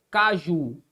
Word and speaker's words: caju: Caju, por que é que caju, ó, caju não recebe acento, mas cajá recebe acento? Vamos ver por quê? Bom, qual é a sílaba tônica de caju? Caju, ó, a sílaba tônica é a última, não é verdade?